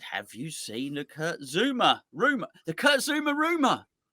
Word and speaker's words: Zouma: But after he did that, he said, "Have you seen the Kurt Zouma rumor? The Kurt Zouma rumor." It rhymes, that, doesn't it? The Kurt Zouma It's rumor.